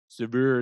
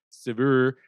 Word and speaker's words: Saveur: I believe that's how you pronounce it, Saveur. Saveur, it's like fur, save, Saveur.